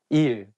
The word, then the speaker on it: 일: So you can use it when you call your teacher, like saying 선생님, 일, day. It has the same pronunciation of the word meaning work.